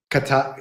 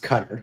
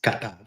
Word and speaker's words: Qatar: Qatar katar. So that drives me crazy. It's not pronounced cutter. It's pronounced katar.